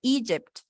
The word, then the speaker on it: Egypt: aquí, Egypt, Egypt, aquí el acento va en la primera. Sería Egypt.